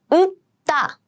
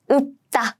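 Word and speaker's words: 읊다: 읍다, 읍다. I pronounce the one on the right, right? 읍다, 읍다.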